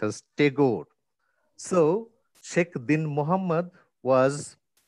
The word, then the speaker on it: Tagore: rabindranath takur is spelled as tigor spelt and pronounced as tagore so sheikh din muhammad was spelt and pronounced